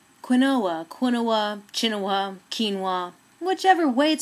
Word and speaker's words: quinoa: quin quin chin kin way pronounced provides so much nutrition in just one ounce